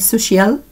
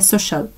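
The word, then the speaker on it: social: سوشيال ستاديز سوشال ستادس في اخطاء في القراءه في النطق بنقول سوشيال سوشيال لا هي سوشل سوشل سوشال ستاديز طب تعالوا نراجع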